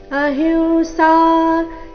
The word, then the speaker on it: ಅಹಿಂಸಾ: ಅಹಿಂಸಾ ಸಮತಾ ತುತುಷ್ಟಿ ತಪೋ ದಾನೈಯಶೋಯಶಃ ಭವಂತಿ ಭಾವ ಭೂತಾನಾಂ ಮತ್ತ ಏವ ಪೃಥ್ವಿಧಾಹ ಅಹಿಂಸಾ ಈ ಶಬ್ದದಲ್ಲಿ ಅನುಸ್ವಾರದ ಉಚ್ಚಾರಣೆ ನಾಸಿಕವ ರೀತಿ ಅಹಿಂಸಾ ಸಮತಾ ತುಷ್ಟಿಸ್ ಅಹಿಂಸಾ ಸಮತಾ